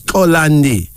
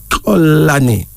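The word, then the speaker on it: Xolani: but it's pronounced as kolandi this from the Corsa of South Africa male name meaning please forgive note that the initial k sound should be said before clicking sound so it's colony but it's pronounced as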